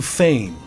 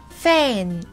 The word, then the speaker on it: feign: There's a nasal sound at the end, right? Yeah, a little bit. So feign. The beginning of the word would be like fei in Chinese, like to fly, right? So fei. Fei.